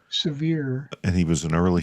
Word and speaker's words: Sevier: No, because it's named after John Sevier, severe.